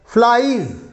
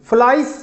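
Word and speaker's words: flies: इसमें pronunciation S का जेड की तरह ही करेंगे आप, फ्लाइज, फ्लाइस नहीं, ठीक है, इसको ध्यान में रखें।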